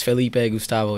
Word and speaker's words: Felipe Gustavo: your name in Portuguese oh it's Felipe Gustavo yeah there's no roles of the tongue or anything it's just no it's like usually people say Filipe that's with the I